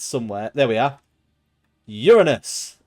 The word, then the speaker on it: Uranus: Uranus. Or Uranus, I guess, if you want to say it like that.